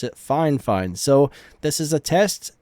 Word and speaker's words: Fifine: to the fine fine and yes it is pronounced fine fine I know it's spelled f fine but they pronounce it fine fine so this is a test of a comparison